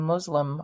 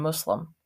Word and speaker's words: Muslim: God pronunciation matters and it is important to note that the s in both Islam and Muslim sound like S's and not saids the pronunciations Islam and Muslim are incorrect the correct